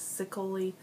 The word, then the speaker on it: Ceccoli: based off of nicoleta choli I think that's how you say it some people say it's sioli I think it's choli um but it's based